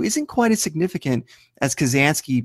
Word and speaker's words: Kazansky: 1992 isn't quite as significant as Kazansky being pronounced as Kaczynski, but when you miss 2 points like Wolves of Steel did, why not try to get a whole new question?